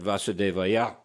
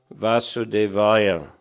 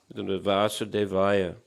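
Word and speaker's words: वासुदेवाय: И так они говорят Васудевая. Сильное ударение на последнем слоге. Но на самом деле это не так. Yes, ударение на как двух слогах. Vasudevaya. Vasudevaya.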